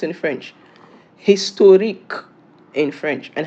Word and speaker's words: historique: How is it pronounced in French? Historique in French.